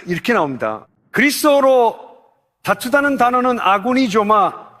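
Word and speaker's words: ἀγωνίζομαι: 그리스도로 다투다는 단어는 아구니조마.이 이 아고니저마입니다. 아고니저마.이 이 단어의 의미는 다음과 같습니다.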